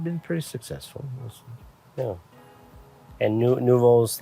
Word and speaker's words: Nouveau: Yes, spelled N-U-V-O, and for those who don't know, in French, nouveau, not spelled like that, but nouveau means new.